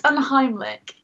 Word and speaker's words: Unheimlich: So how do you pronounce the name? Because I'm not going to attempt to. It's Unheimlich.